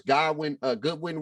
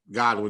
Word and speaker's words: Godwin: Goodwin went out because of an injury. Godwin, he was right the first time. Godwin or Goodwin, however you want to pronounce it.